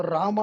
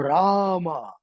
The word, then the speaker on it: Rama: Ra, ma, what happens? Ma is lip, that is the end. So Rama is the whole spectrum of your pronunciation. So make them say it loud. Rama, Rama, Lakshmana, Bharata, Shatrughna.